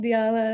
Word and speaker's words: Dyala: But now I'm like, "Oh, it's just pronounced like Diala." Like, "No need." Like, "It's okay if you mess it up, but this is how you say it."